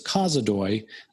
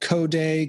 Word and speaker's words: Kozodoy: Everyone pronounces my last name incorrectly. Uh, it's Kazoi. I get Kday, Kadozi. I've had I've had people say it backwards.